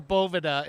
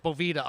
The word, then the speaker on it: Boveda: do with the doveways boveda dude or boveda if you guys want to be french call it boveda i'm american so it's bovida okay hey that works